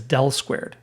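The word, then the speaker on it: ∇²: Again This is the Laplacian operator which we can abbreviate using an upside-down delta squared pronounced as del-squared.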